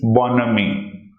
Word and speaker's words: bonhomie: This is pronounced as bonhomie, which means easy good nature.